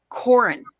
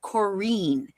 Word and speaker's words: Corin: And her name was Corin, not Corine. Everyone would call her Corine and we'd say no